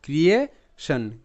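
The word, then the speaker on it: creation: তো ঠিক সেভাবে এখানে কিন্তু CREA ক্রিয়ে হিসেবে উচ্চারিত, ক্রিয়েশন, ক্রিয়েশন, ক্রিয়েশন।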